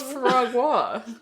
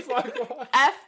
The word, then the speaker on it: foie gras: Yeah, so what's foie gras?